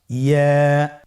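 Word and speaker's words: ياء: পরবর্তী হরফটির নাম ইয়া। পরবর্তী হরফটির নাম কি? ইয়া। ইয়া হরফটি উচ্চারণের ক্ষেত্রে বারিক হবে এবং 1 আলিফ টেনে পড়তে হবে।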